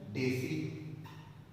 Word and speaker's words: deci: After that अगर सिर्फ D है तो डेसी, इसका प्रोनाउंसिएशन डेसी.